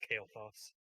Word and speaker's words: Kailthas: By the way, Frank, it's pronounced Kailthas.